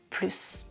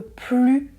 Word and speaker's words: plus: Par exemple, si je vous dis « parle un peu plus doucement ». Ici, je répète, je ne prononce pas le S parce que doucement est un adverbe qui commence par une consonne.